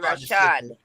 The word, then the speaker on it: Rashad: Oh, Rashid. Rashad. Akhu. No, not Rashid. Rashid is the actor. I said Rashad.